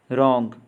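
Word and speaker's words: wrong: आपने देखा कि इन शब्दों के प्रथम अक्षर का शब्द में उच्चारण नहीं होता। अब इन शब्दों का उच्चारण करें। रॉन्ग, नो, नीटिंग, ऑनेस्ट, शाम।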